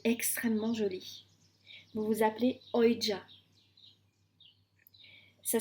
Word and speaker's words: Oija: Vous vous appelez Oija. Ça s'écrit Comment O. j'ai écrit ça? Alors, on me l'a fait écrire, hein, donc je vous donne l'orthographe qu'on m'a donné. O-I-J-A.